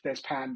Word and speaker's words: Des Pins: Well, it should be Des Pan, but it's spelt Des Pins to make it easy for you to find.